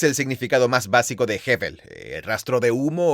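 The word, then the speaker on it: הֶבֶל: hebrea no es difícil de decir tiene una pronunciación simple es heevel hevel h e técnicamente es la letra b larga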